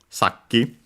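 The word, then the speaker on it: さっき: And yeah, it was actually accent on the first syllable. Saki.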